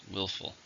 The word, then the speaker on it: willful: an adjective how many syllables are in willful to stress in the first willful I'm bothered by willful